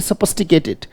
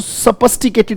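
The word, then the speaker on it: sophisticated: बोले सफिस्टिकेटेड, शाबाश। एक बार फिर बोलेंगे सफिस्टिकेटेड, और सो नहीं, स, राइट पहले सोप नहीं पढ़ना इसको, इसको सपस्टिकेटेड कहेंगे बेटा, बोले सपस्टी, शाबाश, तोड़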